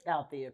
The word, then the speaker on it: Althea: How do you pronounce it? I'm just curious. It's Althea? Althea, correct.